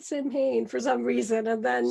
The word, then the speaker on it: Samhain: How is the correct pronunciation? Samhain. Samhain. Damn it. There you go. But the most common way to say it would be what she said is Samhain.